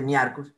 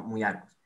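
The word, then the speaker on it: Myiarchus: No se dice miarcus, sino muyarcus.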